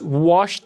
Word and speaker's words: washed: Washed the dishes, mesma coisa aqui. O som do ED vai ter som de T aqui nesse caso.